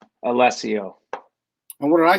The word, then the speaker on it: Allessio: to say no but you pronounce my last name wrong - Matt I'm disappointed I don't like how I pronounce it Alessio and what do I